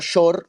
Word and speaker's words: shor: Y shor, la misma palabra pronunciada shor, es becerro.